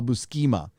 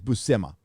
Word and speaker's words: Buscema: Now, the Todd McFarlane run and the Sal Buscema, or I never knew how to pronounce his last name. I used to call him Sal Buscema, but I think it's Buscema.